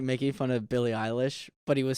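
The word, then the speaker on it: Billie Eilish: like making fun of billy eilish but he was saying her name wrong um and he was saying you sound like billy irish that's so funny hello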